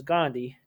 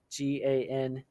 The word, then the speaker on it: Gandhi: Her last name is Gandhi, Gandhi.